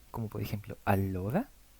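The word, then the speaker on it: allora: el español lento y la doble l no es elle sino que es una l más larga Como por ejemplo alora o alenat la m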